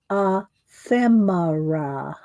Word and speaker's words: ephemera: Ephemera. She always says, I'm not sure how to pronounce that. It's like fem, like feminine, ephemera.